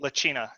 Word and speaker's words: Lachina: should have asked you, how do you pronounce that? Lachina, is that right? Lachina, yeah. Lachina, I got it right.